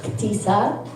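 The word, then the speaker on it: Ahtisa: It's actually supposed to be pronounced Akisa.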